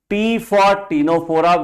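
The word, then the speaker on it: Ctenophora: cant AA on nidaria P for Tora where the C is silent PCT please P for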